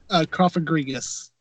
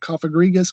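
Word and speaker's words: Cofagrigus: o f AG r IG us G yes car Fergus close enough coffee grievious or there's there's other ways to pronounce it but that's just how I pronounce it I've heard coffee Garrigues cup agreed just one that crystal and I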